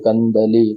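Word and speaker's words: कन्दली: ली बड़े ई की बड़े ई की मात्रा है। तो मैंने जैसे आपको बताया था कि बड़े इ की और बड़े ऊ की मात्रा जब भी आती है जब लय के अंदर इसको उच्चारित करते हैं तो हमको वहां वहां थोड़ा सा इसको प्रेशर के साथ में बोलना पड़ता है ताकि लय व्यवस्थित बने।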